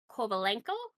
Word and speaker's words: Kovalenko: be out until be January 23rd and Nikolai kovalenko upper body on expect to be out until